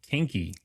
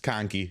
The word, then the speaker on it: Kahnke: Kinky. It's Ki. Yeah. Ki. I was going to go with the long Ah, but I Yeah.